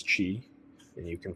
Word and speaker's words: qi: So a foundation also to TCM is understanding qi, pronounced chi. Some people will say it's chai, but it is qi, and you can pronounce